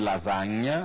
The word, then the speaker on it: lasagna: Então, lasanha, por exemplo, que em italiano se escreve com S e com GN, lasagna, é assim que se fala. Em italiano, o GN em italiano corresponde ao NH em português, lasagna em italiano, lasanha